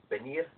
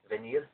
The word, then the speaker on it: venir: a conjugation of the verb venir or venir, depending on your preferences of pronunciation, and which is spelled V-E-N-I-R.